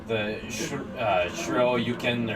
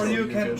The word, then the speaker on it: Shoryuken: Just like the Shiro-yuken, or however it's pronounced. Shoryuken.